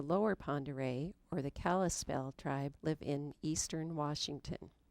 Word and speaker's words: Kalispel: The Pend Oreilles called themselves Kalispe, and that became mispronounced into Kalispel.